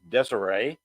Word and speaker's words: Desire: dces or even a street card name actual pronunciation desay but uh a street